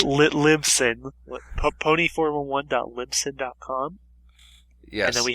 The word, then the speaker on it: Libsyn: You can also find us on Lisbon, and we are also on iTunes. And was there anything I'm missing from that list? How to pronounce the website properly? It's Libsyn.